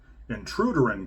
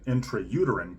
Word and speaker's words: intrauterine: It can also mean a mispronounced album title like intruderine cannibalism rather than intrauterine cannibalism or rights of the